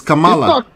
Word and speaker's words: Kamala: Yeah, did you hear what that person pronounced? Is it Kamala or Kamala? It's Kamala.